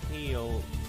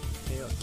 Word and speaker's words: Keil: is that he plays Keil, Keil, K-E-I-L, Flug, who becomes a rider of a powerful dragon. The reticle represents the dragon's laser and Keil's gun. It's spelled Kyle, but Keil, I don't know.